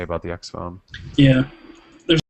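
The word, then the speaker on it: XFON: Another topic, just briefly, the Motorola X Phone, which is spelled X-F-O-N. X-Phone.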